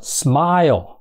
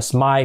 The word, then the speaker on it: smile: chưa smile rồi mới kết thúc bằng cái âm L L đó thì âm là cuối chữ đó người Mỹ luôn luôn thêm là trước nó th cái chữ Ồ nha thành ra nó đọc là smile making everyone smile chứ không phải là smile không nha smile rồi Tiếp theo